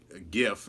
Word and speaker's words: gif: he got there's a there's a gif and I say it with a hard G Sumi of the the